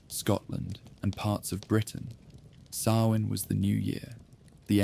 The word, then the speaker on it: Samhain: The ancient Celts marked the turning of the year with a festival called Samhain, pronounced Samhain.